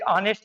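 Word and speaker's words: honest: जैसे एक ऑनेस्ट की बात की गई देखो ये से लगा हुआ है। ये देखो ये से लगा हुआ है। लेकिन बात है ये साइलेंट है। हमें ऑनेस्ट ओ से देना है।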